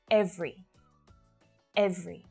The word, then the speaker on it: every: through them every every not every just two syllables every every so you use this pronunciation